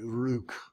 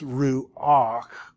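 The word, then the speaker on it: רוּחַ: to help you say, because it would be very hard to say ruk. So it's ruach.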